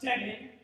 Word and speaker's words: Devin: Shut up, Devin. I'll rise and state my dominance. It's pronounced divine.